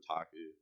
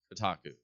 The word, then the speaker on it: Kotaku: CEO or something yeah it's all like the taco Kotaku KO and Kotaku don't don't make me spell it all right Kotaku Kotaku yes yeah so great read um about the